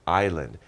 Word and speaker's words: island: And remember, it's pronounced island. And I, because it's a vowel, we have to say an island.